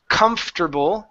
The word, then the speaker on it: comfortable: Oops. Take out that O R. So this O R is gone. Comfortable.